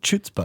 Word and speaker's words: chutzpah: I've never heard chutzpah. Okay, maybe it's chutzpah. The C is silent.